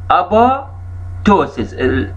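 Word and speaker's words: apoptosis: أباتوسس. البي الثانية ما تلفظ، يسمونها أباتوسس، البي الثانية ما تلفظ.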